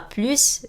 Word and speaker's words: plus: وهنا بننطق حرف الاس. فرانسوا a plus de chemises que Pierre.